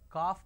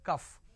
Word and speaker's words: calf: please try to understand calf is whenever you say cough it is c a l f is not cough it is cuff all right the syrup